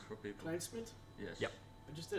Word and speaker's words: Klijnsmit: That's maybe a little bit easier to pronounce for people. Klijnsmit?